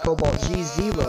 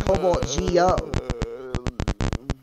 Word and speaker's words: Cobaltgeo: No, dude, it's Cobaltgeo, but it's not pronounced Cobaltgeo. It's pronounced Cobaltgeo.